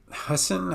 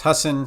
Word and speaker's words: Husson: with the list okay we look at oops Hassan I just that that really bugs me that I can't pronounce okay I've verified it's Husson feel better about it uh so when we